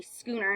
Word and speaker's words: schooner: And a schooner, I know there's an H there, but it's not pronounced.